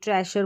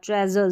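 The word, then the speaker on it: treasure: गया अब इसको ट्रेजर नहीं बोलेंगे ट्रेसर बोल दिया ट्रेजर ज का साउंड आएगा एस के लिए ज का साउंड एस के लिए आप देखेंगे एस का ज साउंड आ गया और आर का र साउंड आ गया लास्ट में जो ई रहता है ना वो साइलेंट रहता है और यू का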